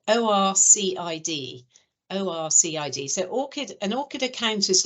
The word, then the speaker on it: ORCID: an academic you probably have to have that it's spelled o-r-c-i-d-o-r-c-i-d so orcid an orchid account is like a basic requirement